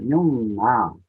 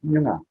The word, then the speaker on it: Nyunga: And he'd be pronounced that Nyunga. Very, very important part of his teaching of language. Some people would say a bit shorter, Nyunga. And then there'll be Nyunga. And so these little subtleties are a good indicator